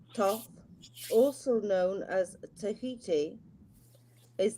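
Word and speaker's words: Thoth: Toph, pronounced Toph, also known as Tahiti, is the ancient Egyptian Ibis, head god of writing, divine magic, and the moon.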